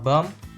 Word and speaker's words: bomb: The b sound is omitted, become bomb, and then the bombard, the b sound is appeared again.